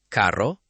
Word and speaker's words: carro: First, perro, carro, arreglo. Feel the light trill in the middle. Perro, carro, arreglo.